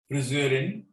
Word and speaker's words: Friseur: It's almost like an Ö, O umlaut, friseur or friseurin, but frisur, U, is the haircut.